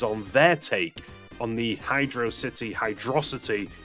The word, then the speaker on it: Hydrocity: Is it HydroCity or is it HydroSSity? HydroSSity. And while HydroSSity sounds awesome because it's a fast water level, great pun there. Unfortunately, it is HydroCity.